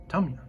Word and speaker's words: Tamiya: I pronounce it Tamiya, but I believe the proper pronunciation based on Fred's recent video is Tamiya.